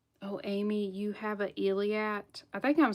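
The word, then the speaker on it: Eilat: There was someone that got an actual Iliad stone brooch.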